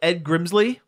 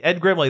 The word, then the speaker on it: Ed Grimley: now is the uh the wacky Misadventures of Ed Grimsley Ed Grimley Grimley Ed Grimley that's it I I always mispronounce that really liked that show when I